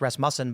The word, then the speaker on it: Rasmussen: we learned recently that's pronounced Rasmussen by the guy from Rasmussen who came here.